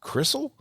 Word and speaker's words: Crystle: and I was like his last name's Crystle is did I pronounce that right uh it's actually Cal so like I just tell people the why is a double e but you know it's I've I've had it messed up since as long as I